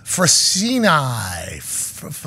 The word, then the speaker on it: Frassini: Frassini. Frassini, like Penne Sewell.